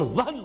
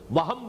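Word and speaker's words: وهن: note کر لیجئے، وہن، ویسے یہ کہ تلفظ میں وہم جو ہے میم کے ساتھ، یہ چونکہ ہمارے ہاں عام طور پر لفظ استعمال ہوتا ہے، آپ کو مغالطہ نہ ہو، یہ نون کے ساتھ ہے وہن، اور وہن ہی سے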